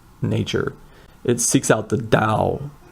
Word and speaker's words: Tao: It seeks out the Tao, sometimes pronounced like a ta, sometimes with a d. Again, I don't speak Chinese, but I believe the da is more correct.